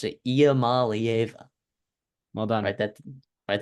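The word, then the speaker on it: Iamaleava: Yes, that's how you pronounce it. Iamalieva.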